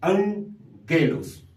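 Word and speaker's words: ἄγγελος: Y en esos casos va a cambiar su pronunciación su sonido sí va a ser ahora como una n por eso esta palabra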